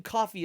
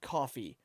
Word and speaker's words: CFVY: Team Coffee is spelled CFVY. But it's the closest they can get. Who is that exactly? Coffee.